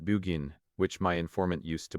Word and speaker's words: Burgoyne: He pronounced it Bugin, which my informant used to borrow.